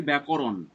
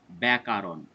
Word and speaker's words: ব্যাকরণ: এই উচ্চারণটি ভুল হয় তারা উচ্চারণটি করে বসে ব্যাকারণ মোটেও ব্যাকারণ নয় কয় আকারটি মোটেও থাকবে না তাই শব্দটি হচ্ছে ব্যাকরণ যদি আমরা কোন পরীক্ষার